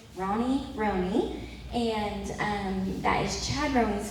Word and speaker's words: Roney: Those of you that have been looking at it, wondering how to say it, Roney.